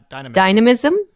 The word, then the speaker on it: dynamism: it dynamism dyn D dynamism dynamism I think you were putting the emphasis on the wrong emphasis on the wrong salable yeah exactly okay uh